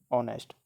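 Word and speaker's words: honest: वो आपको देखना है ये नेस्ट हम इसको नहीं पढ़ेंगे है ना इसमें क्या है एच एक साइलेंट है इसलिए आप इसको क्या पढ़ेंगे ऑनेस्ट है ना आपको ये ध्यान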